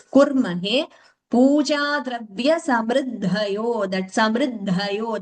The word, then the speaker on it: कुर्महे: Slightly it was heard as a dirgha. It was heard as kurmahe. It is kurmahe.